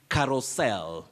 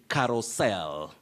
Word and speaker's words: carousel: another word for merry-go-round but the pronunciation is carousel you say carousel so avoid carousel carousel say carousel so that is the acceptable pronunciation of that word remember i've said it's